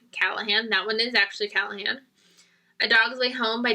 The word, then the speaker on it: Callahan: know how to I don't understand how to pronounce her name American predator by Maureen Callahan that one is actually Callahan a dog's Li home by W Bruce Cameron